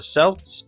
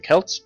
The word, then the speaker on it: Celts: seen a pantheon, that the Celts, or the Celts, depending on how you like to pronounce it, are not in this game.